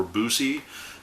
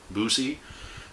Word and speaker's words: Buse: and this is Don Buse, I believe is how it's pronounced, or Buse, and he went by the nickname Boo, so we'll go with Buse.